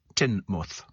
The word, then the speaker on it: Teignmouth: Teignmouth is pronounced Teignmouth.